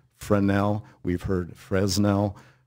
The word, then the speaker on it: Fresnel: The gentleman, the French physicist that invented that lens, Augustin Jean Fresnel, it's spelled F-R-E-S-N-E-L. It's pronounced Fresnel. We've heard Fresnel. The accepted pronunciation, French pronunciation, is Fresnel. Forget about the S, but you and everybody else have.